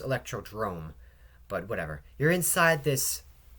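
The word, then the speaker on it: Electrodrome: Wii U courses I mean you're inside it's pronounced electrod Drome but whatever you're inside this thing and there's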